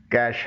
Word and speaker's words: cache: اس کی صحیح pronunciation کیش ہے.